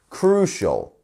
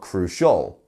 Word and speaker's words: crucial: next up we have crucial two syllables and our stress is on the first one crucial not crucial crucial amazing and we